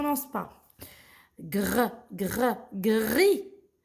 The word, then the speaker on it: gris: ce pas gras gras gris gris le s il est meilleur jeu là prononcent pas gries et la couleur gris